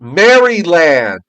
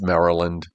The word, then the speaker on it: Maryland: Mryland. Maryland. Joe. And before somebody says anything, I know it's Maryland. Okay. I have a daughter who lives in Mryland. Okay. But I like to call it Mryland.